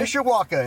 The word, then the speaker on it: Mishawaka: How do you pronounce it? Mishawaka? Mishawaka, in the Greater South Mishawaka.